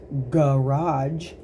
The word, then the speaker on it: garage: A word that has both of those soft and hard G sounds is garage. Garage. Garage.